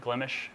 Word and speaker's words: Glimesh: That is the official way to pronounce it, Glimesh, just in case anyone was curious.